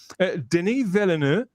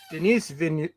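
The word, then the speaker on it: Villeneuve: Deni Veliner. I am sure that's how you pronounce it.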